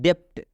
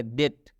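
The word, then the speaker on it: debt: तरह उच्चारण करेंगे तो बहुत सारे स्टूडेंट इसको पढ़ते हैं डेप्ट डेप्ट नहीं पढ़ना है इस बी को छोड़ देना है क्योंकि इस बी का दद भाता है तो ये हम लोग पढ़ेंगे डेट डेट मतलब होता है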